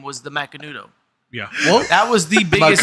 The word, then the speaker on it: Macanudo: I mine was, haven't uh, smoked The one Macandus? in like a long time. Well, how the fuck do you pronounce it then? I think it's Macandu. for me it was Romeo. thought it was and Juliet. Macanudo.